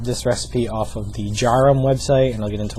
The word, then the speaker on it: Djarum: my favorite one the most well-known one is jarum that's spelled DJ a r u m jarum um they are manufactured in Indonesia I know